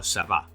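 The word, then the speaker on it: ceba: Do we say "ce"-ba or ce-"ba"? "Ce"-ba, right?. “Ce” is the stressed syllable.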